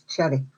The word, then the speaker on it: Xerri: Malta, because they say that name is Cherry. That's the way they pronounce it.